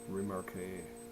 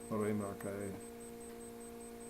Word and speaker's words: remarquer: Remarquer. That's how they say it in all français. Remarquer. Remarque. They say remarque.